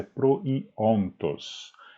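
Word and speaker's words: προϊόντος: Significa que o oi do proiontos não deve ser pronunciado como um ditongo, mas como um hiato, né? Então até pronunciei errado, não é proiontos, mas é proiontos.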